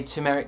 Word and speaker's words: turmeric: Why do you say turmeric like that? That's how it's spelt, mate. How do you say it? Turmeric. Turmeric. Nah, it's turmeric. It's genetic. It's like genetic.